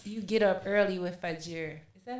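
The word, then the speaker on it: Fajr: um for muslims you get up early with fajir is that how you say it that's right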